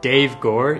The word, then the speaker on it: Dev Gore: So hi, my name is actually Dev Gore, even though it's spelled D-E-V, I know it's quite strange.